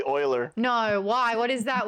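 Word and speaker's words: Euler: was a good game what's Ula oh no what's Ula Oiler it's actually Oiler no why what is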